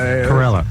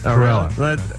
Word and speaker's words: Carolla: Carolla, like gorilla. Carolla.